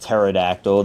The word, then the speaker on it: pterodactyl: I know it's pronounced pterodactyl. The P is silent.